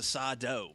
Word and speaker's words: Sado: Sado was part of that. Sado, that's right. Accent on the dough.